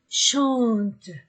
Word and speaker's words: chantent: Alain et Michel chantent. Je ne prononce pas le ENT.